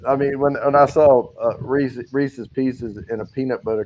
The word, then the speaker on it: Reese's: By the way, Reese's, I'll say it correctly, and I'll also say Reese cup.